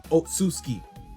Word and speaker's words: Otsutsuki: I gotta say Ot, then Sutsuki, Otsutsuki.